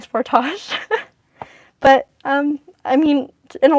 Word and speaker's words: Sportage: Is the way you pronounce Sportage a Canadian thing? I just read that one too. I hear it said differently here in the States. So actually, it seems to be the States who are the only one that pronounce it as Sportage. Like the world is Sportage. everyone else is saying Sportage.